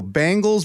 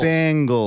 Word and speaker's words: Bengals: that cinnati Bengal Bal Bangles no you're wrong it's Bengals like I'm saying you're